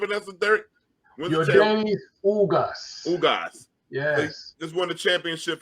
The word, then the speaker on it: Ugas: I can't pronounce his name. Ugos. What's the name of that, Derek? Yordanis Ugas. Ugas.